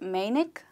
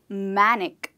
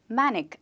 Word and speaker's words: manic: Did you call it manic? I'm sorry you're wrong, it's not called manic it's called ‘manic’ yes! The way you pronounce the word man, that's how you pronounce this word manic and not manic.